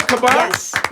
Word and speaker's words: Caban: Am I saying it right, Caban?